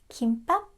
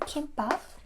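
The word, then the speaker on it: 김밥: Kimbap juseyo. It's not kimbap, okay? It's not kimbap. It's kimbap.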